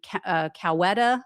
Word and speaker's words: Coweta: This was in Coweta, I think is how you pronounce it.